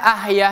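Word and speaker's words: أحياء: kita pakai H besar bukan H kecil yang awalnya ahya hidup. Jadi ahya e hiya. Hiya itu artinya dia kamu kan jauh artinya dari hidup menjadi ka kamu. Beda, bedanya jauh. Jadi ahya ya bacanya ini ha kecil ahya wa amwata. Di sini ahyanya kita baca panjang enam harakat.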